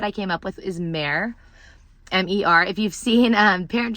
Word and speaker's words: Mer: But I think that's a beautiful name, Mare, M-E-R. I mean, some people might pronounce it Mur.